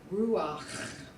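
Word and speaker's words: רוּחַ: So whenever you see a patak under a final ayin or a final het, you know that the accent is on the next to the last. And as our song says, if it's under a het, it says ach and not ha.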